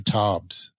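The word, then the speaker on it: Taubes: do about it by this author named Gary tobs it's spelled t Au ubees he's a scientific writer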